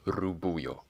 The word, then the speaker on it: rubujo: And actually, by the way you pronounce it, how you say it in Esperanto is Ĝi estas rubujo.